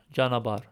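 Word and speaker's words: ճանապարհ: The letter ho is usually breath or silent if after a consonant. So, in the word chanabar, we don't really pronounce the h.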